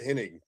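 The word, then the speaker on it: Hennig: Perfect got I can't say his name right ever. It's Henning to me. I don't care what they say in the South. It was pronounced inning, right?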